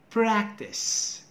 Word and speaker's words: practice: How to properly pronounce it? Do not forget the first sound. This is consonant clusters. And ra, pra, practice, prepare, prefer, practice, prepare, prefer.